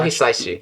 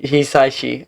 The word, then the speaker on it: Hisaishi: And I pronounced his name wrong last time, but Joe Hisaishi. Hisaishi.